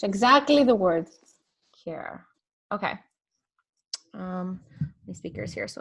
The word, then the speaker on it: KearLife: Care, like the word care in English. Exactly the word. KearLife.